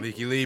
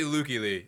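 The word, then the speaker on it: Lykke Li: Leaky Lee, bro. It's actually Lukey Lee. That's the Swedish Fucking- pronunciation, but I everyone dig calls the it hell out Leaky of Lee.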